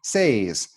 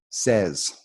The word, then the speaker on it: says: So you look at it and you say says, but really a native speaker would say this word says.